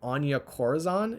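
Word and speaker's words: Anya Corazon: whether that be may Parker or her name anja Corazon is how you pronounce it I like all of them but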